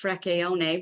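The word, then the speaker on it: Fricchione: and dr dr frischone who's really got a beautiful italian name that should be pronounced freckeone but i always like to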